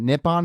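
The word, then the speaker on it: Nippon: the uh npb which is the is it nipon is that how you say it yes NE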